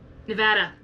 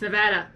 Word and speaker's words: Nevada: the UN Reno Nevada Nevada it's Nevada I have cousins who live there they know how to pronounce it how how correct you two wait Nevada it's so funny everyone else call calls Nevada Nevada like no it's actually Nevada like people like the